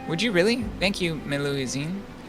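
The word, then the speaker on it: Melusine: you really thank you meluizine is that how you pronounce that yep your pronunciation's correct well then let's start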